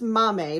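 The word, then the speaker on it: Maame: the next one is called Mame and it's m-a-a-m-e as you see on the cover it just happens to tell me how to pronounce it phonetically so that's the only reason I know but this is Mommy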